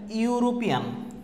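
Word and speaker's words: European: দেখো তারপর হচ্ছে ইউরোপিয়ান, এই যে ইউ উচ্চারণ আছে ইউরোপিয়ান।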